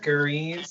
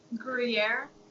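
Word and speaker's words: Gruyères: Gruyere, how do you pronounce it? It's like the cheese. Gruyere?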